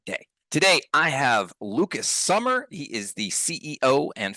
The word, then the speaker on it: Sommer: Is it Summer or Sommer? Close enough. It's Sommer, but Sommer. Okay. everybody goes with Summer.